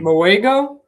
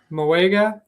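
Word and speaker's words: Mauigoa: And instead, they chose Francis uh Maui Maligoa or I think that's how you pronounce his name. Moega. Moega.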